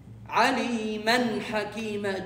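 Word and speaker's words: عَلِيمًا حَكِيمًا: When you continue, you pronounce the tanween as noon, completely a perfect noon. Aliman. Aliman Hakima.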